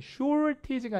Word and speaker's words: shortage: short가 모자른 부족한인데 age를 붙이면 명사가 돼서 부족이 되는데 미국 사람들은 알 다음에 t 발음을 잘 안 해요. 그래서 발음이 shortage가 아니라 shortage 이렇게 쓰는 거고요. 영국 사람들은 알 발음 오히려 안 하니까 shortage 이렇게 쓰겠죠.